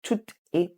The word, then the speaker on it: tout est: So there's a liaison between both of them, okay?